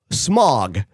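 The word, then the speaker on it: Smaug: And then and then she mentions the dragon's name again, but she calls him Smog, which is correct.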